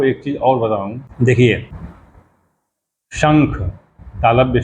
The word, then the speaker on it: शंख: तालव्य श होता है शहर वाला श और शंख उसके ऊपर बिंदी होती है और फिर ख होता है तो उसको पढ़ते हैं शंख यानी श और उसके बिंदी को क्या कहते हैं कैसे उच्चारण करते हैं कैसे प्रोनंसिएशन ंग शंख हो जाता अब चलिए लिखते हैं